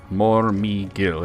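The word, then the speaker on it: Mormegil: Um Morgil is spelled m o r m e g i l. Morgil.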